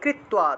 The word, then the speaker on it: কৃত্বা: ততঃ দুঃখে, সুখ দুঃখে সামে কৃত্বা, তয় নিচে বফলা থাকায় তুয়া উচ্চারণ, কৃত্বা। লাভালাভো জয়া জয়ো, লাভালাভো জয়া জয়ো।